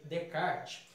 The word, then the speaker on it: Descartes: em algumas outras aulas se escreve descartes mais lê de card ele vai dizer ele